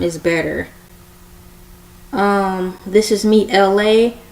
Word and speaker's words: Elay: This is me, Elay, pronounced like LA like the city.